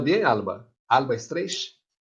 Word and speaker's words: Streich: E hoje, nossa ponente principal é Alba Streich. ¿He pronunciado bem, Alba? Alba Streich? Más o menos, es Alba Streich, es alemán.